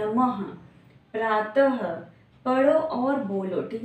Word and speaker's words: नमः: हम ह का प्रोनाउंसिएशन करते हैं, जब अह की मात्रा आती है तो हम कैसे पढ़ते हैं, अह पढ़ते हैं, लेकिन नमः आता है ना, नमः।